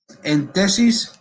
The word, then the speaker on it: entesis: Vamos a mirar y quiero estar seguro que lo estoy pronunciando correctamente. La entesis es donde se Así.